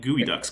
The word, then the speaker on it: geoducks: ever and my geoducks I mean gooey Ducks because that's how it's actually pronounced but it's for some